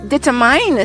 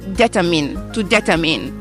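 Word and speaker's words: determine: l'erreur que j'ai faite en fin d'année j'ai prononcé ce verbe detmine c'était la vidéo où je parlais de Barack Obama et j'ai prononcé detmine alors que ça se prononce detinemine et là encore l'une de vous d'entre vous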